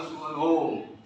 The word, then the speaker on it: स्वरोम: होगा, है ना, भूर्भुवः स्वरोम, लिखा है स्वरोम लेकिन उच्चारण होगा सुवरोम, है ना, स्व सुव हो जाएगा।